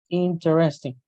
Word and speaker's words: interesting: Interesting. In English, it's not common to say interesting. You need to put the sounds together and then you say similar to interesting, interesting. That's very interesting, interesting.